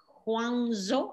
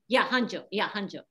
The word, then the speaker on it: Hangzhou: It's in Huangzhou. I don't pronounce it well. Zhejiang? Yeah, Zhejiang is in where Alibaba headquarters are. Alibaba headquarters is in Huangzhou, what that beautiful- Hangzhou.